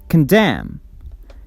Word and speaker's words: condemn: higher pitch beautiful or condemn condemn the stress goes on the second syllable damn condemn beautiful condemned